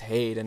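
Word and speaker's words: Heide: Some people say it is Haid, and apparently some kind of NPC also confirms that, I believe. But me being German, I in the end, I'm just much more comfortable with pronouncing it Haida.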